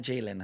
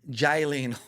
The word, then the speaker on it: Jaylene: Not Jalen, huh? Jailene. Jaylene. Who the fuck's gonna pronounce that right?